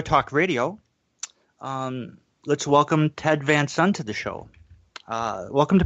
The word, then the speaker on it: Van Son: to be here all righty um did I pronounce that correctly by the way yeah it's Vance on OK and the is that Genesee Valley yes